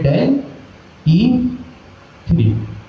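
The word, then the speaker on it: DALL·E 3: एक आपने सुन रखा हो नाम अगर डेली थ्री का। ठीक है? अगर आपने नाम सुन रखा हो डेल थ्री का इसको आप यूं प्रोनाउंस करेंगे डेल ई थ्री।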